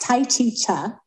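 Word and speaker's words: Tai Chi Chih: point so I learned first of all it's pronounced Tai chicha in this class is a different version of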